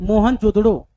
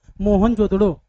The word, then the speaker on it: मोहनजोदड़ो: मोहनजोदड़ो last में ओ वाला उच्चारण आ रहा है। चनहुदड़ो। मोहनजोदड़ो।